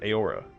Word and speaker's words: Eora: Ao sounds like Ao. This sound is still used in the modern word Eora.